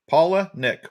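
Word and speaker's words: Palaniuk: you asked he said you take two names paula and nick yep paul paula nick paula nick paula nick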